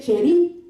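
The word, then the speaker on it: Cherith: Entonces, en este diccionario bíblico, esta palabra se dice cherit. Cherit se escribe, y cherit significa corte.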